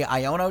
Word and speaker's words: Iono: Which also fun fact if you did not know um the card is pronounced iono. You know kind of a little port manto of of I don't know um is not quite Iono but seems to be what everybody's calling it anyway.